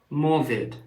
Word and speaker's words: Morvid: leader of gler and he's called morid that's m o r v d so I started thinking